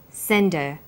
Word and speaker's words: send her: did you send her send is the strong form and her is weak because her is not stressed we drop the initial H sound so it's pronounced sender what did you send her